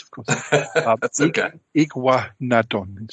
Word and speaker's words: Iguanodon: The one I cannot pronounce, of course. That's okay. Iguanodon.